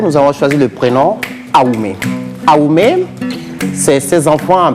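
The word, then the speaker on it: Awoumé: Justement, pour la consigne du jour, nous avons choisi le prénom Aoumé.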